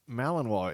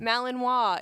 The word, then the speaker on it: Malinois: that pronounced Malinois? It looks like Malin. The S is Illinois. silent. Malinois.